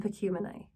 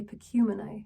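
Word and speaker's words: Pacumeni: Pahoran, Paankai, and Pekumenai. I used to say Pekumenai, but I always look up the pronunciation for the Book of Mormon, and they say Pekumenai, so Pekumenai, okay?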